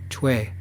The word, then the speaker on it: Choi: It's pronounced Choi. Rhymes with Trey, but with a soft CH sound. Cha-way.